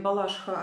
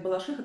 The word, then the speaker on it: Балашиха: ударением на А в Москве в ходу оба ударения и даже песни есть девчата я после того мне написали не надо говорить Балашиха а надо говорить Балашиха так я говорю про балаш про балаших Потому